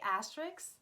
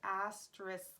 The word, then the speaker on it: asterisk: I can never say this word right, like literally, asterisk. I always say asterisk, but that's wrong because the S is not the last letter. So it should be asterisk. Does anyone say it like that?